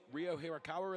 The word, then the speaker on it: Ryo Hirakawa: be now full of confidence, won't they, that Ryo Hirakawa in the car tomorrow? Yeah, tomorrow. That was perfect pronunciation.